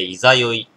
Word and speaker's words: 十六夜: いざ酔いの月 16 屋の月と書いていざ酔いの月と読むらしいですえアルコール度数